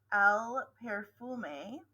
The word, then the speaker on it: perfume: So this is pronounced in Spanish, el perfume, not el perfume, el perfume, and el perfume is perfume.